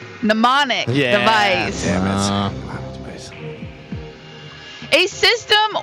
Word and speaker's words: mnemonic: The M is silent. Mnemonic device.